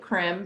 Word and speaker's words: CRM: say what the acronym crim stands for yeah sure so it's crm we just pronounce it crim for short but it stands for